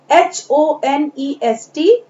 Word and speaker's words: honest: नेक्स्ट इज HONEST। Your spelling is beginning with the letter H, but you will read it with O। आप इसे O से पढ़ेंगे, honest। H जो है यहाँ पर साइलेंट लेटर है।